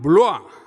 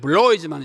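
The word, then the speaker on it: Bloy: 그 다음 두 번째는 레옹 블로아, 영어로는 블로이지만 이게 블라는 사람이니까 블로아 이렇게 읽어야 맞습니다.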